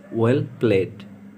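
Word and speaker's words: pour: ভালো খেলেছ, well played. চা ঢালো, পো দা টি। এখানে পোর উচ্চারণ করবেন না, পো।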